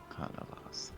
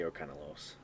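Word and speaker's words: Arcanalas: No, sorry. Arcana Las. Las, not Los. Arcana Las. It's just how I pronounced it. Oh, and look, I don't like to say people's names wrong.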